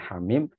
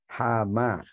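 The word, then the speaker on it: حم: atau surat-surat AL hawawi yaitu jika awal-awal suratnya adalah hak dan mim dibacanya Hamid ada banyak cerita tentang orang yang belajar Alquran kemudian tersalah membaca awal surat yang di yang terdiri dari huruf-huruf Amin dibacanya hama itu berarti belum benar tajwidnya harus diperbaiki lagi dan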